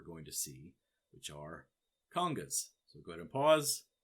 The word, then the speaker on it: conga: Now, a conga is pronounced conga, by the way, not Congo. Congo is one of two countries in Africa. Conga is an instrument. So don't get those confused. Congo, countries. Conga, instrument. Okay, bongos, little drums.